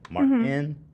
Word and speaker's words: Martens: awesome but you see people are spelling it m-a-r-t-e-n-s like that's how you say it Martin oh that's how it's